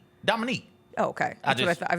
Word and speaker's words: Dominique: How do you pronounce her name? Dominique.